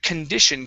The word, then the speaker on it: condition: is uh the word condition give me a short i here instead of uh condition it's con condition condition all right very good next